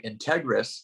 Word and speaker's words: integrous: together um it's actually it's actually Integris which is a very rare word but it's the way that it's the correct way to say it but if they're being